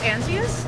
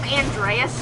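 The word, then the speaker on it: Antinous: Oh, Antius? Yes, thank you. I've been calling him Andreas for like the past 2 days. You're adding a D when there's a D.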